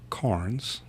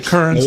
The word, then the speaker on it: Carnes: So I thought we would drag Carnes. No E. I always say Kearns, and it's bad.